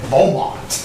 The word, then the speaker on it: Beaumont: That's the English version of the original French name of Beaumont.